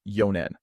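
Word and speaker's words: 四年: exception for four years yawn will be read as yo making four years read as yonan and seven year can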